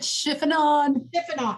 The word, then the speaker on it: chiffonade: are those called somebody smarter than kenna that pronounces word isn't it chiffonade yes there you go i wasn't sure what